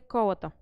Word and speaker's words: колата: Друг елемент на печатните издания, този път за всички печатни издания, които се състоят от много страници, това е колата. Колата с ударение на ОТО представлява няколко страници събрани